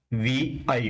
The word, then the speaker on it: vi: क्या होता है, इसको हम प्रोनाउंस क्या करते हैं, वी आई एडिटर।